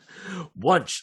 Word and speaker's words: Wunsch: Wunsch rhymes with lunch.